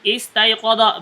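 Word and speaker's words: اسْتَيْقَظَ: Sama ini juga sama nih, istayqadha. Berapa ini hurufnya? 6. 6, maka dibacanya kasroh.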